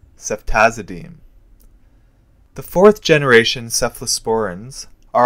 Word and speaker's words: ceftazidime: American or Canadian coin which in this odd case will be pronounced as deem represents ceftazidime SEF team ceftazidime the fourth generation cephalosporins